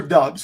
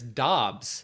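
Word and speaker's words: Doubs: Gabriel Davis this season um Romeo is it dubes or dubs because so it's actually neither it's Dobbs Dobbs okay I thought it was dubes for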